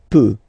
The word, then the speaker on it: peut: Then il, elle peut. So you will put T at the end, you don't pronounce it. Il peut, elle peut.